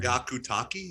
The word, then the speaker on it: Hyakutake: Hyakutake?